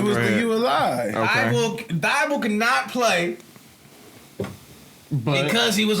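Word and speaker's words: Thybulle: Thibault.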